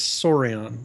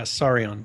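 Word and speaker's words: Saurian: it is s sari is that how it's pronounced sororium it is sorion s yeah sorion saion open world dinosaur survival experience it's on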